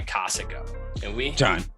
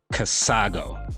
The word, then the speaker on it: Casago: brought to you by cosica you mean casago no I meant casago that's not how you say it you gotta get